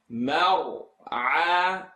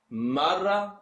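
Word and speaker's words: المرعى: Please keep the only letter here pronounced heavy is the ra, and in this case the a is always going to be light. Mar'a. If you're saying marra, marra, and you're bouncing the sound, please try your best not to do that.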